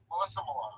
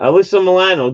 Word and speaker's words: Alyssa Milano: Melissa Milano. Oh yeah, Alyssa Milano.